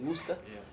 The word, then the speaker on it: Worcester: It's spelled, that city that's spelled Worcester, Yeah. but it's really Worcester.